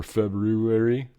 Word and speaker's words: February: Or February, if you say it properly.